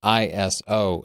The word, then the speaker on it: ISO: was an acronym and you might have just been in the habit of saying those three letters but I talked to ISO and I've done a lot of research into this iso is a three letter word that for some